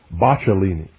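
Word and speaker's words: Boccalini: I believe that's bachelini. I believe that's the correct pronunciation.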